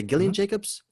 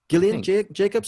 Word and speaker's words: Gillian Jacobs: jillian or gillian jacobs how do you say gillian jacobs gillian jacobs okay and also john gallagher jr is marty